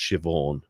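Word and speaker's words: Siobhan: Rings uh shobon uh kind of written the Irish way so s i o b h an but it's Pro pronounced shivon shiv shiv from yeah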